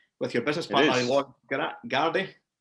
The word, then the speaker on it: Girardi: With your business partner, Lloyd Girardi? Girardi, yes. Girardi, that's it. I always get his name wrong when I pronounce it.